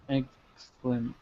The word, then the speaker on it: exclamation: So you notice where we have the EX, we're not pronouncing the E, it's just exclamation. We're not really saying the E here. Dimitri, can you say it for me? Exclamation. Yeah, notice how he pronounces more of the X. The E is very silent.